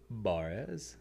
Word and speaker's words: Barez: How do you think you're supposed to pronounce it? Barez.